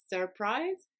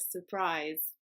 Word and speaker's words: surprise: is quite confusing because it contains two R's the first one is not pronounced you can pronounce it